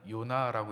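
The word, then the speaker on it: יונה: 여러분 비둘기라는이 히브리어 단어는 요나라고 읽습니다.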